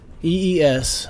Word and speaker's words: EES: EES which is pronounced e is an acronym for